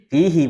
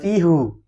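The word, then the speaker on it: فيه: Di dalamnya kita bilangnya apa? fi fihi bukan fihu gitu loh maksud saya asalnya kan hu tapi ketika dia bersama dengan ini jadi fi hi bukan fihu fihi nah selebihnya kalau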